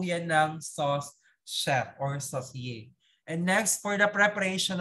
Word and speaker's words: saucier: We have number one, the sauce chef, which is the saucier. Okay, by the spelling, but you pronounce it saucier. Pronounce saucier. Ayan. It's a French term, okay, for sauce chef.